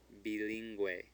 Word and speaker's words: bilingüe: Bilingüe. Bilingüe. What would it say if we didn't put that umlaut there? Well, if it's a U that's between a G and an E without an umlaut, it's silent.